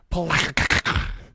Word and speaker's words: Palatka: It'll be from March 6th through the 7th at Palatka.